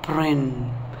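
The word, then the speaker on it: Prynne: 14 year old hester prin her name rhymes with sin she has a three-month-old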